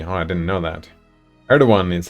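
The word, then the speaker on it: Erdoğan: that works amazing world skipping says you don't pronounce it erdogan they'd like are the one with a W not a G oh I didn't know that erdogan is how it's pronounced I have no idea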